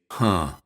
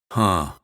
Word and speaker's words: huh: it's pronounced for starters it's always nasalized that means we say it through our nose we don't say h we say huh huh when we use it